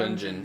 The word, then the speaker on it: Gungeon: Gungeon. Like dungeon. Like dungeon. Not, It's a portmanteau, which I love.